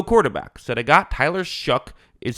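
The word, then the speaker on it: Shough: So they got Tyler Shook is how you say his name.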